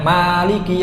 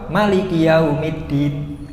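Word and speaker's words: مالك: roket kedua fatihahnya berbeda rakaat pertama bacanya Maliki yaumiddin panjang kalau rapat kedua Maliki karena memang ada dua riwayat ya baca Fatihah pada ayat Maliki itu ada riwayat yang panjang ada riwayat yang pendek jadi untuk menjaga sunnah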